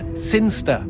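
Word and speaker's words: Cirencester: the boring town of siner sester sinster what it's pronounced sinster how do you know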